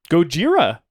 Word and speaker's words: Gojira: Gojira, I believe, is what they call that one. Yeah, that's how they say it in Japanese.